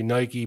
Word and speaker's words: Nike: the world some say Nike like bike some say Nike because that's the way you're supposed to say it but that